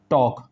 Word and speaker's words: talk: लीजिए टॉक, TALK टॉक, तो अगर L आ रहा है तो हमेशा याद रखना उसको आपको साइलेंट करना है। K से पहले अगर L आ रहा है तो उसको साइलेंट रखना है, तो इसको आप बोलेंगे टॉक।